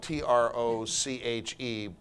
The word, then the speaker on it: troche: they use these things called proteins it's spelled t-r-o-c-h-e but pronounced troche and these are like life savers